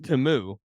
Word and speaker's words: Temu: And it's pronounced Temu.